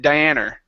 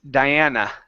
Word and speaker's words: Diana: word Diana okay so remember the UH sound at the end of a word needs to be up instead of her okay here you said Diana okay instead of Diana its Diana Diana there you go yep